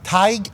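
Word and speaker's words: Tadhg: named Ty Ty who it's an Irish name t a d g but I believe it's pronounced TIG leader and he documented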